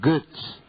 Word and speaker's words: Götz: Ese es un apellido alemán y se pronuncia Götz.